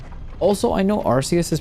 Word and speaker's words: Arceus: They pronounce as Archus is. I'm calling it Arus because that's also what the Japanese pronounced it as.